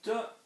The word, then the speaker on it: de: are just starting, because day is two words, de and lay. Day, of the, from the, plural. Not day, D-E, this is Spanish pronunciation for our word here.